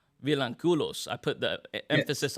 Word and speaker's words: Vilanculos: Vilanculos. Vilanculos. I put the Yes. emphasis on the wrong. Okay, so say it one more time for me. Vilanculos.